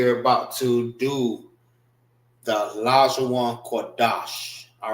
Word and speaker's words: Lashawan Qadash: Wan is pronounced together. Qua Dash. Dash is pronounced together, which means holy, holy tongue.